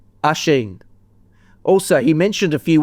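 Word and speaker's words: Oisín: Can we learn how to say Oshin pronounced Ashen? Ashen.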